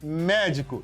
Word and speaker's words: médico: Por exemplo, a palavra médico. Médico. Médico. Olha só. O Mé é forte.